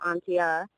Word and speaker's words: Antje: and then my Snapchat is my actual name Atia uh 20 and that's spelled a n t j e and then